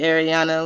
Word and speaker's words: Ariana: A lot of people say either or, but I say Ariana. Like Like when I Ariana say Grande.